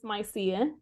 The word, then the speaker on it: Mycia: Is it Mycia? Yes, it's Mycia. Yeah, you Okay. said it right.